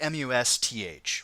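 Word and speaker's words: musth: they go through this stage called must it's spelled like mu sth right but it's pronounced must and it's where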